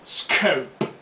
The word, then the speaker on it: scope: Escope es una palabra americana, pronunciada scope.